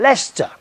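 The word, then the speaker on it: Leicester: elom no it's not it's Lester l e i c s t e r Square Lester dear that's how it's spelled but you say it Lester I'm sorry this is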